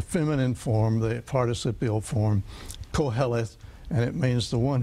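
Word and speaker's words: Qoheleth: Koheleth.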